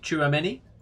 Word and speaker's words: Tchouameni: So, there's been talk of Tchouameni Tchouameni.